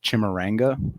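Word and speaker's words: Chimurenga: And the second Matabele War is also called the First Chimaranga. I think that's the correct pronunciation, but the word Chimaranga means revolutionary struggle or uprising.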